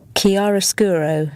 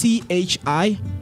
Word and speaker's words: chiaroscuro: the man has to say with the proper pronunciation of this word. Give it to me. Chiaroscuro.